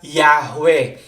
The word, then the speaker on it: Yahweh: Karaniwan po itong binibigas bilang Yahwe.